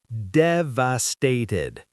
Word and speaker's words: devastated: Devastated. Four syllables. Stress on the first.